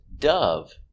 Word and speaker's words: dove: the white bird dove so when you see d o v e it can be Dove the passive dive and it can be Dove the white bird it depends on the usage so remember the white bird is a dove making the short sound of uh uh uh relax uh uh the sound is down here uh du Dove so the white bird